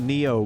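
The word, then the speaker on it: Nioh: let's head back the Neo game is spelled n-i-o-h just to help differentiate it from chat Neo Neo Plays very much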